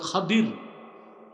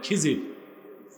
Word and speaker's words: খাদির: ওনার মন্ত্রী ছিল হযরত খাদির। কি নাম? আপনারা ভুল বলেন খিজির, উচ্চারণটা হচ্ছে বিফাতহিল খা ওয়া কাসরিদ দাদ, খাদির। আমরা বলি খিজির।